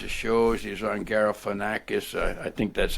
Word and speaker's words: Galifianakis: He was on Galifianakis. I think that's how you pronounce his name anyway, between two ferns. Oh, Galifianakis.